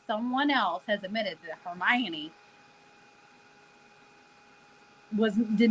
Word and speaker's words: Hermione: similar in my head every time I read it I was like Hermon herion like I did not that hermion there's syllables in there that letters do not account for okay I'm just telling